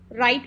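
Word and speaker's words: Wright: था राइट brothers ने इसको हम डब्लू साइलेंट है राइट पढेंगे राइट ब्रदर्स दोनों भाई से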